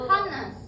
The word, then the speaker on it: honest: Kalau ini honest tidak good. Kalau ini gimana? Hmmer. Hmer. Jadi ini disebut silent age. Jadi H-nya itu bisu, diam, enggak disebut.